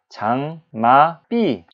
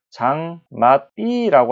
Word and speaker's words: 장맛비: 자, 발음할 때 장마삐.